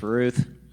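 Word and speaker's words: Routh: R O U T H pronounced Ruth.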